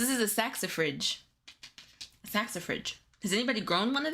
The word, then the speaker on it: saxifrage: I need a pronunciation. Hi, Debbie. Saxifrage.